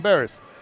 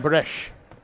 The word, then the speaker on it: Bresch: People call him Barris. It's Christian Bresch.